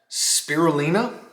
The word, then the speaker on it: spirulina: And it also has spirulina, I believe that's the correct pronunciation, which is an algae,